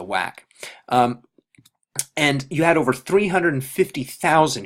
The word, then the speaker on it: WAC: or the WAC and this was later shortened to just one a but still pronounced the same to WAC and you had over